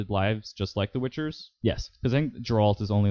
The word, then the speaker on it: Geralt: oh yeah yeah uh Gerald Gerald Jerry Jerry Jerry Jerry like his name is hard to pronounce it's geralt it's geralt um whatever uh he he